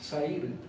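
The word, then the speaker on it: שעיר: Sair.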